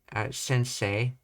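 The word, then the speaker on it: 先生: they went high again during Sensei which is a a nakad Daka so it goes high in the middle of the word uh they made this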